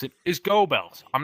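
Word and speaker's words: Goebbels: In American English, how we pronounce it is gobells.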